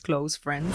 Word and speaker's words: KLOuFRENS: mencionar que este tema cl Friends se va voler que él haya escrito tal cual se pronuncia cl Friends más pronunciado en el inglés Close Friends la mudanza es el